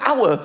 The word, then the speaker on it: hour: Why is the word hour spelled with an H? Why is there an H? The silent H.